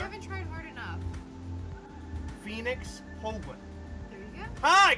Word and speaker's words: Holguin: We do have a special guest, which I cannot pronounce his last name. I've tried. Heather? You haven't tried hard enough. Phoenix Holguin.